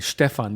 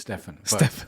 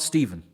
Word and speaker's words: Stefan: This is the German way of saying Stefan. How do you say your name? It's anglicized because I'm English. It's Stefan. But obviously we're in Germany, so Stefan is fine. But it's not Stephen.